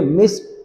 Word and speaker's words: missed: तो जैसे है MISSED और हम इसको पढ़ेंगे मिस्ड, ट साउंड के साथ। मिस्ड कहना, मिस्ड, ड कहना गलत है।